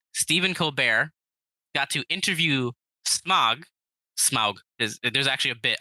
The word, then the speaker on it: Smaug: promote the movie Stephen Colbert got to interview smog smog there's actually a bit about how his name is actually pronounced Smaug in the bit by the way um with